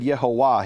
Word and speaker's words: Yehovah: If you'd ask Ezekiel to pronounce the name of God, he would not have said Yehovah, he would have said YeHoVaH.